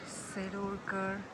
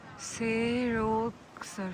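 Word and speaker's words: Serolsar: बताओ welcome to दी सिरोलकर सिरोलकर like अभी तक मैं इसको गलत प्रोनाउंस कर रही थी इट्स सेरो सर सिरो सर से सर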